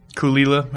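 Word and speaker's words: Caol Ila: But Kulila's on the north side. Kulila is another pronunciation. That's what he called it, Kulila thing.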